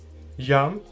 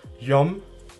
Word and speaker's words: jam: Yum. Some people in Kosovo will pronounce it as yom, yom.